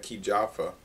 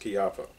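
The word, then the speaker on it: Kijafa: If you ever go looking for Chiaffa, it's spelled K-I-J-A-F-A. It looks like Kijaffa. It's pronounced Chiaffa.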